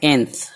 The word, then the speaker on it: nth: जैसे NTH, इसका pronunciation होता है एंथ।